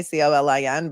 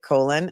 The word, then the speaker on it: Colin: Powell who spends his who spells his name the same way. C O L I N but pronounces it Colon and not Colin, but we know it's Colin Albert.